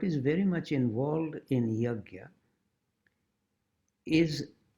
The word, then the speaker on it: yajna: actually be practiced without yajna. In North India, it usually gets pronounced as yagya. Y-A-J-N with a little umlaut on type and A on top. So yajna or yagya.